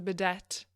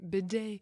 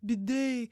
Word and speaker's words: bidet: in French the term bidet bidet so I don't know I thought that's how it's supposed to be said but you don't pronounce the T like I was doing for all my life and the first time